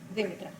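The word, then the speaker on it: Dhimitra: Dimitra. Would you spell that?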